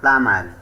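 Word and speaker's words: plumber: এখানেও এম এর পর বি লেটারডি সাইলেন্ট থাকবে। পি এল ইউ এম বিই আর প্লামার মানে শিষক কর্মকার।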